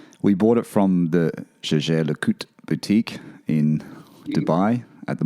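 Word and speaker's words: Jaeger-LeCoultre: Jaeger LeCoultre. Not Jaeger LeCouture. That's how I used to say it.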